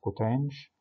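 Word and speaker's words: coth: تكملت طبعا الستة فانكشنز، في واحدة تشبه الكوتان والساك والكوساك نقول عليهم هايبربوليك كوتان اللي هي بننطقها كوتانش، هايبربوليك ساك اللي بننطقها ساش، هايبربوليك كوساك بننطقها كوساش.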